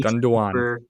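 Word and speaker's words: Gündoğan: I probably butchered the pronunciation. On a free Gundogan.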